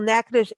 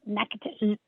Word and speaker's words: Natchitoches: last month about the 43rd annual Natchitoches NSU Folk Festival.